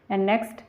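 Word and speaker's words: knock: तो टाइट तरीके से नेक्स्ट तो यहां पर हम इसको के को साइलेंट है जैसे तो इसको हम पढेंगे नी नॉक नॉक तब आप इसमें क्लियर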